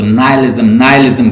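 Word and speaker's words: nihilism: English की pronunciation जो है इसको नाइलिज्म कहती हैं, तो आप इसको प्रोनाउंस कर लें जैसे आप कर सकते हैं आसानी से।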